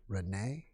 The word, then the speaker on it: Renee: Renee is the accents on the second syllable, and maybe Bois.